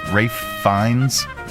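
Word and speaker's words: Ralph Fiennes: Yeah, I I pronounced that right. Ra Rafe Fines.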